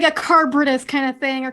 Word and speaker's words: Charybdis: Like a carbritus kind of thing, or carbritis. I don't know how to pronounce it, whatever. Charybdis.